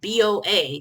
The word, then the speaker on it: boa: bow and to clarify it's pronounced uh boa as in like a feather bow that um that you